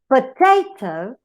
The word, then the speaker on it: potato: In the case of potato, the stress is not in the first syllable, it is in the second.